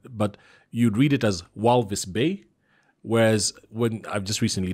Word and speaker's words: Walvis Bay: I said it, but the V is an F. So it's Walvis Bay is how you say it, is how it's supposed to be said, you know.